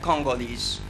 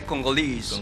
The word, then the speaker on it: Congolese: Much more on the stress, because in American English, for example, we say Congolese, but in British English, they say Congolese.